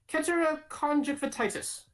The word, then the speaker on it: keratoconjunctivitis: I'll pronounce it again. It's epidemic keratoconjunctivitis.